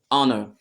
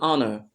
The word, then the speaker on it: honor: same thing applies to honor it's an honor an honor because the letter H here is not pronounced to so because we